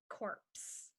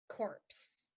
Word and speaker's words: corpse: Q made us queue up for lunch this one is corpse corpse and corpse is another word for a dead or deceased body so to remember say the cops took the corpse to the morgue the cops took the